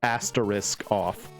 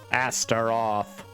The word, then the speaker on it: Astaroth: Because I keep reading it as like asterisk off. Astaroth. I learned the word Astaroth from Soul Calibur.